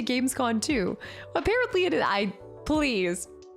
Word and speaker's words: Gamescom: No, it is con, not com. I was like, that doesn't even make sense. Make it make sense. I would say Gamescon too.